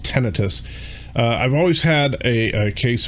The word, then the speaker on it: tinnitus: Now, I've always had, and I don't know, I've always called it tinnitus, but I guess it's actually pronounced tinnitus.